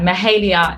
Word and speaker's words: Mahalia: for the whole time so um but yeah mahalia is how you pronounce it thank you very much for taking